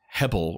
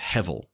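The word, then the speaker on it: הבל: The word itself is hebel or hevel. The B sound in Hebrew often makes a V sound. And so it's usually pronounced, it's hevel.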